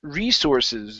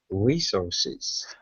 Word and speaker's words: resources: word here is pronounced resources the stress is at the beginning here as well resources resources okay give me an